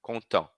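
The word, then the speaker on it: content: na pronúncia com eu tô parando aonde tô parando no e nasal e né Contão não tô falando T que que vai acontecer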